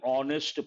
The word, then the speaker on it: honest: use the indefinite article and because her sound is silent and honest person honest straightforward or direct in one's approach